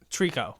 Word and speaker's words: Trico: a dumb like a dumb treku trekko truck trico trico that's the trico i think that's what